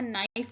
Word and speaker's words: knife: के हमारा साइलेंट है यानी के को नहीं पढ़ा जाएगा, नाइफ पढ़ा जाएगा इसको. नाइफ यानी चाकू या छुरी.